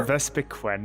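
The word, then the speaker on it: Vespiquen: Uh my number one is Vespa Queen. Uh one Pokemon I feel like there was a Pokemon I ended up liking the less. It's pronounced Vespen.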